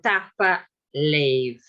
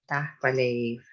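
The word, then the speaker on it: tapadh leibh: So it's so-called pre-aspiration, which is very typical for Gaelic, Scottish Gaelic.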